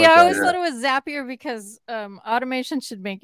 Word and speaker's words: Zapier: to talk about uh zapier or zapier or maybe that's the first the first discussion point is how the hell do you pronounce it um zaps so it's probably zappier it's a it's a